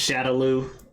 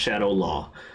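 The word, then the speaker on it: Shadaloo: In the games, it's pronounced Shadowloo, and in this movie, it's pronounced Shadow Law.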